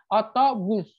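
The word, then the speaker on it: otobüs: Otobus. Otobus. Jadi U-nya tuh maju. U yang ada titik dua.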